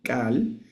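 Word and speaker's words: כל: Algunos la pronuncian como cal y otros la pronuncian como col, cal o col. La forma es exactamente la misma. Nosotros la vamos a pronunciar como col.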